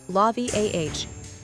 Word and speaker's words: Lauviah: Name Lauviah, pronounced Lauviah.